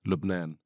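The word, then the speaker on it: لبنان: But in in what's the language there? Arabic. Well, how does it sound there? Lubnan.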